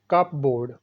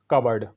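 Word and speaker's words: cupboard: कप बोर्ड, ये भी अक्सर गलत पढ़ा जाता है। इसकी सही प्रोनाउंसिएशन है कबर्ड, कबर्ड।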